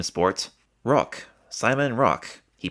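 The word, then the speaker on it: Rocque: here when it says he pronounced it rock that just simply means that sport himself refers to his own last name as rock whereas other people refer to it as sporro.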